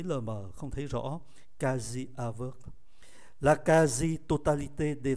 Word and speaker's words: quasi: Chúng ta có cái trạng từ Cặng từ này phát âm là kazi.